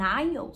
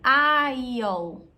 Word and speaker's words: aisle: So, would you like a window seat or an aisle seat? Percebe que essa pronúncia aqui é bem diferente da escrita. Aisle.